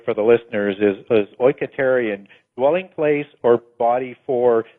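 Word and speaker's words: οἰκητήριον: I've got it right for the listeners, is oiketerion, dwelling place or body for the spirit.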